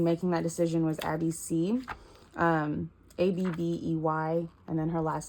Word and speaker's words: Sy: One inspiration that was huge for me in making that decision was Abby C. Abbey, and then her last name is spelled S-Y.